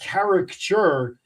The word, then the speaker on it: caricature: And I want to stress to the audience, you're saying caricature, but I want people to realize he's not mispronouncing character.